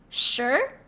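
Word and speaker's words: 十: Okay, so just remember that when you, it's like shirt in shirt, but right before you hit R, you stop.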